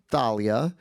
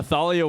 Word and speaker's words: Thalia: Well, we were talking about this backstage when I read the books and I read Talia. I read I'm Latino, so I read Talia cuz we have a very famous singer named Talia and she's amazing. Um, any other pronunciation issues that you came up against? No, Thalia was a big one.